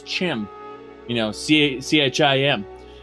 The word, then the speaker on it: Chim: pronounce Chim you know c-h-i-m and he said Chim as in cheese and uh uh what's